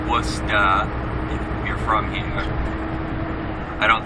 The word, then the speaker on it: Worcester: wora Massachusetts so uh I'm sure those abroad would pronounce it Worchester but it's Worcester or wora you're from here I